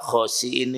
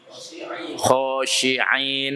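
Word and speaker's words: خاسئين: Saya suruh lihat karena banyak orang baca khosiin ini salah. Benar wali bacanya. Khosyi'in apa ya? Nah, ini jauh sekali arti perbedaannya. Khosyi'in dengan khosiin. Jadi sin kecil hamzah lagi, bukan sin besar dengan ain, ya.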